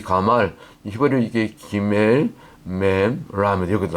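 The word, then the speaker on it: גמל: 가말 히브리어 발음으로 가말이에요. 발음 비슷하잖아요.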